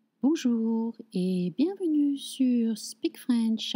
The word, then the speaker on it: bonjour: Bonjour.